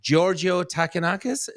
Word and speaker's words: Georgio Takounakis: Welcome to Don't Let It Stew, Georgio Takounakis.